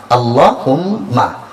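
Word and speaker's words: اللهم: আল্লাহ হা মিম পেশ হুম মিম জবর মা আল্লাহুম্মা তাইলে মায়ে কোন কি নাই টান নাই অথচ আমি কি বলছি আল্লাহুম্মা আল্লাহুম্মা অর্থ অভিধানবিদরা বলেন আল্লাহুম্মা অর্থ হচ্ছে ইয়া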